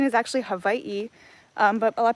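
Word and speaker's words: Hawaiʻi: So, we kind kind of reduce it down to Hawaii, but Hawaii, that's like a very foreigner way to say it.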